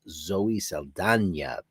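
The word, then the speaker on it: Saldaña: All these years I've been saying Zoe Saldana. It's Zoe Saldana, who's a terrific actress.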